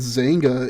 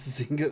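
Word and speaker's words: Xanga: If anybody's familiar with what Zanga is, I know that's fucking dating myself like the plague. But I got permabanned from the American Dream Zanga because I was 14 and too dumb to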